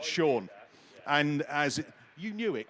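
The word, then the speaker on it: Sion: It's spelled S-I-O-N, but it's pronounced Sean.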